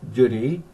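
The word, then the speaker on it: Dùn Ì: And I walked to the back of the hotel, about a mile, and climbed up Mount Dunee, pronounced Dunee, D-U-N-I.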